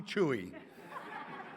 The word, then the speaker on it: Chuy: morning i am chewie my real name is spelled but nobody wants to call me that so they call me chewie yes i'm so grateful